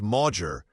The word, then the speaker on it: Mauger: Pronounced Mauger, this Norman name meant council spear.